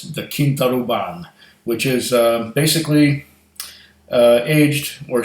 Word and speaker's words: Quinta Ruban: but this glenmorangie is the I I wouldn't pronounced in english like like somebody would say to quinta Reuben no it's the King thought oh bond which is basically aged or shall I say